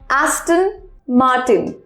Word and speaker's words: Aston Martin: number four AST open ma r/t I am a sto n ma rtin a looser on Taguchi Aston Martin Aston Martin it's very simple okay now next